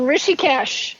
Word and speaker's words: Rishikesh: That in 68, they visited his spiritual training camp in Rishikesh, is it? Is that how you pronounce it, in India? Right, in Rishikesh, yes.